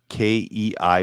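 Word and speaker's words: kei: a it's pronounced I it's spelled k-e-i but it's pronounced K it's a k truck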